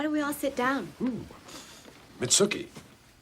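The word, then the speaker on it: Mitsouko: Mitsuki. Rhymes with nookie.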